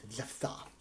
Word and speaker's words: Jephthah: It's pronounced Jephthah. Jafar. What a name that is. So many consonants in a row. Jephthah.